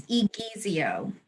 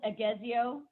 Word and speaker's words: Egizio: say your last name it's igezio thank you i should know that should you easier i always thought it was aguezio he ease you yeah